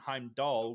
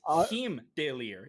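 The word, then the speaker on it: Heimdallr: I've always called him Heimdall. So for me, it's Heimdall. But I'm guessing the character model, Hindalir, I'm guessing that's the correct way to say it. No, it's Heimdallir.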